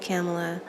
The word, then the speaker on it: Kamala: Now I pronounce it Kamla. You may pronounce it Camela. Um I pronounce it Kamla. I could be wrong.